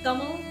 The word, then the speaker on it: Tamil: For everyone who didn't know it's actually pronounced Tamil.